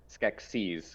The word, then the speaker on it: Skeksis: get seas like seas you say sketch and then sees like Skeksis oh yeah there you